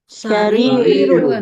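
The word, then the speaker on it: سرير: Kemudian kasur sarirun. Sarirun ya. Rnya panjang.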